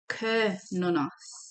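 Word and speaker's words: Cernunnos: We did look at the book at Sir Nonos. Let's have a look what it says here. Oh, it says it's pronounced Kernonos.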